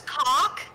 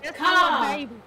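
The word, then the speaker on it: Kaa: Did you say her name was Cock? No, Ka. K-A-A, like my the snake from Ka. Jungle Book.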